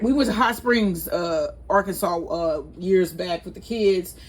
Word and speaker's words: Arkansas: And then they it wants you to know that it is pronounced Ark, like Ark of the Covenant, Arkansas.